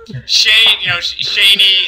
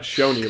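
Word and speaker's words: SCHOENE: Most of what he said was too smart for me, but I did learn that it's Shaney and not Shoney, like I've been saying for years.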